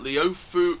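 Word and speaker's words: Leofoo: video at sultan's adventure at leo foo at the ofu village theme park that's how it's pronounced and also you can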